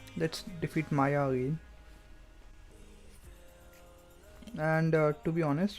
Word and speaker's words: Maia: idea is to defeat how do i pronounce this it's maya let's defeat maya and uh to be